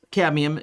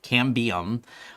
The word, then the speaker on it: Cambium: but one of the things about aruba ruckus cadmium uh can cam beam i'm always saying their name wrong cambium uh they may they all make good products